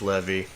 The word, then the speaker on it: Levi: I hate that it's pronounced Levy. Oh, I hate it. I agree. It's Levi, but it's Levy.